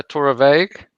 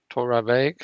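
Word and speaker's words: Torabhaig: what it is so the a is pronounced so torah vague torah veg so the others other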